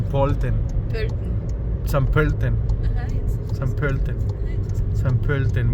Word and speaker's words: Pölten: San Pölten. San Pölten. San Pölten. San Pölten. San Pölten. Bueno, ya vieron cómo se dice esa O umlaut.